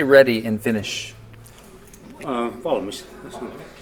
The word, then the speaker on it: valmis: Valmis. Valmis.